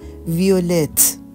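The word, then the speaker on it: violette: اضافه میشه میشه وقت ویول بنفش مؤنث یه او اضافه میشه ویولت نوق مؤنث شم میشه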